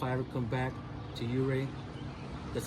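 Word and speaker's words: Ouray: Well, if I ever come back to Uray, that's how you pronounce it, right? Colorado. Uray, yeah.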